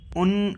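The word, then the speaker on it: und: उन जो इंग्लिश का एंड होता है, और उसको जर्मन में उन कहते हैं, उन.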